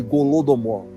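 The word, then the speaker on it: Holodomor: por aquilo chamado de gulodomore se escreve com h que significa em ucraniano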